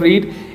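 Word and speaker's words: read: लेकिन प्रोनाउंसिएशन में हम रीड नहीं पढ़ेंगे। रीड इज a first form. रेड रेड। रेड और रेड जो है वो सेकंड फॉर्म आएगी।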